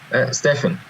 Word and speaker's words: Steffen: your first name curricul is it stepan or Stefan I apologies if I've gotot it wrong Stefan Stefan there you go gosh I'm so used